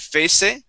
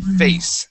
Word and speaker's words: face: Here you had said face and pronounce that E at the very end. Okay? The word is face.